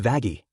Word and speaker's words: Vaggie: Actually, it's pronounced Vagi.